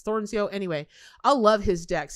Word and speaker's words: Thornsjo: I've never been really good at pronouncing his last. It's Thornsjoe.